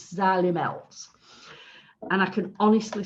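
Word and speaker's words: Xylimelts: group yeah sally melts because people say it wrong it's an x think of the azalea fern but it's sally melts and i can honestly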